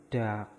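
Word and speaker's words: 닭: Diget, a, vokal ada, riel, terus giak. Berarti ini katanya dibaca dak.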